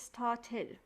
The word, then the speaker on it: started: the final sound yes when a verb ends in the sound t or d you pronounce it as id he wanted it a